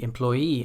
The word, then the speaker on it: employee: Some suffixes are always stressed as the final syllable in a word.